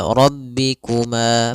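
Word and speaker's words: رَبِّكُمَا: Kemudian pada lafal rabbikuma, pada lafal ma di sini ada bacaan mad thbi'i yaitu adanya fathah bertemu alif.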